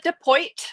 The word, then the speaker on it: Deoit: So I'm Deoit. My last name is spelled pretty trickily, but it is pronounced deoit like Detroit.